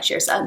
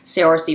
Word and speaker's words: Saoirse: It's kind of like Shirsa, where it's like, well, it's Irish, so it is like Shirsa, which is something I always mispronounce. Whenever I see Saoirse Ronan's name, I always say it in my head, Saoirse Ronan, and then correct myself.